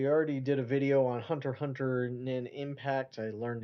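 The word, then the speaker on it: Hunter × Hunter: And so I I already did a video on Hunter Hunter Nin Impact. I learned you're not supposed to pronounce the X or cross there.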